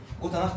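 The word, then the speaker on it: Gute Nacht: جوتا نخت تصبح، اللي تصيح طبعا هنا نطق الخاء.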